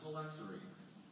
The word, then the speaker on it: phylactery: Your word is phylactery. Phylactery. Am I pronouncing that correctly?